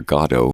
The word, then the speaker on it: Godot: a big cultural divide Americans tend to say waiting for godot and Brits and Irish people tend to say waiting for God oh and you don't want